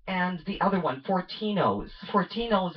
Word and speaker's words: Fortinos: the other one fortino Fortinos is probably rhymes with dominoes and they sound the